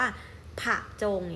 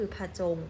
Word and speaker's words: ผจง: เต็ม เรา ก็ จะ ไม่ ออก ว่า ผัก จง เนี่ย ไม่ ใช่ นะ เรา จะ ออก เพียง ตื่น เสียง ก็ คือ ผจง นะ คะ เพราะ อบ